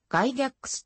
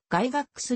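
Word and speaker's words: Gygax: れているため外ぎゃークスとして知られるが英語での発音は外がっくすに近い世界初にし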